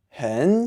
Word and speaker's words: 很: You'll notice that when I said 很 by itself, it's a 3rd tone. But when it goes in context, because it goes right before 喜 out of 喜欢, which is also a 3rd tone, the 3rd tone in 很 becomes a 2nd tone. So you actually pronounce it 很喜欢.